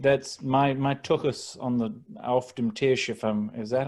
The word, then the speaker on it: auf dem Tisch: And so I think that's my tuchus on the auf dem Tisch, is that how you say it? Yeah. Auf dem Tisch, yeah.